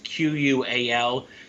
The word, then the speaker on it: QUAL: ETFs this year is q-u-a-l this is an ishares ETF it's qual is how I would pronounce it higher quality Blue Chip